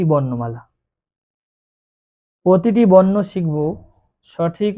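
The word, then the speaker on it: ث: বা তারপরে আছে তা সা এই পরপর তিনটি অক্ষর এক আলিফ পরিমাণ টান দিয়ে পড়তে হবে।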